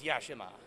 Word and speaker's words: Yashima: no all right that's right so what is yashima so first of all yashima's co-designed by myself